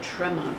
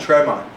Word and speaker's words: Tremont: In Boston, we call it Tremont Street, not Tremont, not okay.